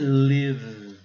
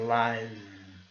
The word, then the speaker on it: live: O verbo live, o que significa viver, morar, a pronúncia é live. Live. Não estamos usando a regra aqui, né? Agora aqui, quando é substantivo, nós já usamos a regra, live.